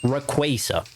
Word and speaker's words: Rayquaza: because I call for a long time I call it Rayquaza. It just sounds better. But I know officially it is pronounced Rayquaza.